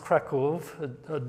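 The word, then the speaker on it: Kraków: Kov is it's actually pronounced Kov W is a V in Polish.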